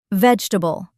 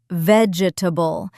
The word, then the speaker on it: vegetable: Vegetable, not vegetable. We say vegetable. 3 syllables, not 4. And here's one that gets almost everyone.